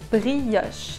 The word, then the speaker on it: brioche: If you're wondering how you say brioche, it's pronounced brioche, it's a French word.